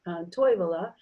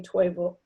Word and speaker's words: Toivola: And then the stress syllable, there's a town in the Keweenaw called Toivola, and some people say Toivola, and some people say Toivola, and you hear that switch. Now it's common in English to always stress the first syllable too, but this also is a carryover from Finnish, because Finnish always stresses every first syllable of every word, and English doesn't always.